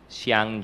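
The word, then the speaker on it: Zhiang: Siguro hindi po tami yyung aking pronunciation pero It's spelled as z h i a n g space J siang Je it here Thanks sh your name confidential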